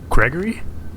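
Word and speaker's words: Greggorieg: Gregory? Gregory. 2 of the G's are silent. 2 of the... Can you spell that for us? G, that one is silent. R-E-G-G, that one is also silent.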